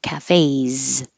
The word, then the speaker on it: cafes: what looks like an S sounds like a z cafes so if your voice is on leave it on cafes and if your voice is off leave it off wakes that's it comparison